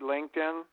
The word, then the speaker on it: LinkedIn: I don't know what Lycum is. You're not saying LinkedIn. Well, that's the way I pronounce it. It might be pronounced something different than that, but. Oh, okay. LINK, LinkedIn.